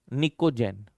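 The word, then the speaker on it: pnictogen: P silent है, निकोजेन।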